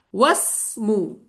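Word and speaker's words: وَاسْمُ: Wasmu. Dibaca enggak tadi alifnya? Wasmu tidak. Tidak dibaca. Makanya ditulis dan tidak dibaca.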